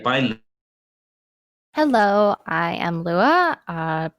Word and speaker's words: Luea: Hello, I am Luea, pronounced Luea, and I play KENARI.